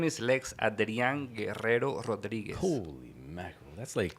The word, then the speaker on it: Guerrero Rodriguez: Lex Adrian Guerrero Rodriguez. I'm going to use that as my exercise. Yeah. Arr. That is called a trill. That's A trill. Yes. roll your R's.